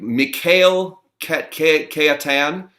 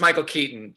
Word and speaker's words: Michael Keaton: But coming up, you'll be able to see him in the film Worth, starring Mikhail Keatan. It's pronounced Michael Keaton.